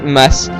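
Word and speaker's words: ます: pas prononcer des même chose si un verbe se finit par mass le U final ne se prononce pas il faudra donc prononcer mass si le sujet vous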